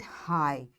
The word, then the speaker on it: high: And the next rule for silent G is in GH, G is not pronounced when it comes after a vowel.